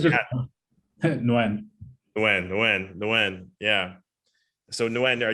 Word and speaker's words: Nguyen: So if you can get creative, I always forget how to pronounce it. Your name, is it? It's just Nguyen.